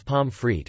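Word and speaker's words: Pommes frites: by the French words pomfrit or only pom or Fritton derived from the French words but pronounced as German words they are often served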